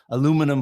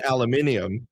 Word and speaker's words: aluminium: Aluminum foil. You mean aluminium.